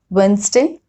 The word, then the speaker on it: Wednesday: It is not pronounced in some common words like this: handkerchief, Wednesday, sandwich, handsome. Okay, so in all these 4 words, D has been silent.